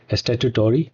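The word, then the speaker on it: statutory: Charge को हम लोग स्टैच्यूटरी चार्ज बोलते हैं। क्या बोलते हैं? स्टैच्यूटरी चार्ज बोलते हैं। प्रोनाउंसिएशन गलत हो सकता है बट आप समझे, ठीक। स्टैट्यूटरी चार्ज इसको बोला जाता है।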